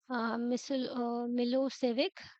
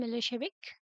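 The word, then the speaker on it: Milošević: Narrow minded जो shrubs थे, SERB nationalist, मिलोसेविक, pronounced as मिलोशेविक।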